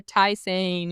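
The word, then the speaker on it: tisane: Um, this is home and hearth tissani tea, I think, is how it's pronounced. t i s a n e or tyane if you're American. I'm going to say tison.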